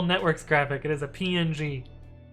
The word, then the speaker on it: PNG: Did you guys know that PNG is supposed to be pronounced ping?